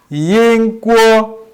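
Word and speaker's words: 英国: pronounce uk in chinese by saying they say yang guo in chinese we pronounce in swahili in english uk england in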